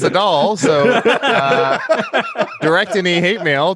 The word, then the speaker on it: Adal: lucky and of course adele agreed to be on the show because he shares these views yeah yeah no no no you said my name wrong it's a doll so direct any hate